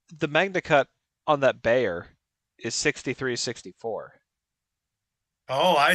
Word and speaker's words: Bexar: not the bear well it's pronounced Bayer but it's spelled Bexar which is [ __